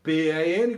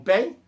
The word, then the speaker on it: pen: Lembra da pen, P-E-N, que você aprendeu no colégio como pen, e a pronúncia é pen.